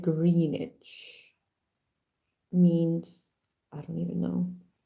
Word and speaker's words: Greenwich: the green greenish one it's spelled Greenwich but you read it greenish means I don't even